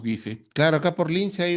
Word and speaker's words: Guise: Efectivamente, algunos lo dicen Gais. La pronunciación, ¿no? Sí. Nosotros en el Perú ya lo hemos castellanizado y lo llamamos Guise.